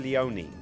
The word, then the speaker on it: Leone: nut the one Lenore I won't say Lenoir because I'm dyslexic Sergio Leone is how you pronounced there we go see